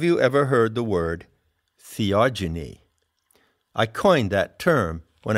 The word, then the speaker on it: theogeny: ever heard the word theogony i coined that term when i wrote the seekers handbook it's spelled t t-h-e-o-g-e-n-y genie as in genesis generation epigenesis genetics so what it means